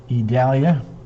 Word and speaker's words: Idalia: storms move in with idalia all I need is a bag of ice Janice Curry yep Italia i-d-a-l-i-a but it's pronounced with it like it's an E E Dahlia so there